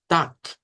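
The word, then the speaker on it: Tag: la palabra día y ya sabemos que termina con g pero se pronuncia con k y decimos Tac pero esta es una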